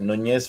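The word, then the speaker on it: Núñez: Yep, Nunez from Porto.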